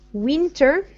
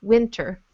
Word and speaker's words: winter: Now, the way you read it was winter, but in the first syllable, make your I shorter, winter.